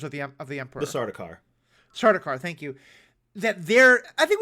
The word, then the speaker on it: Sardaukar: an idea of the what's I can never pronounce their name, the soldiers of the emperor, the Sardaukar. Sardaukar, thank you.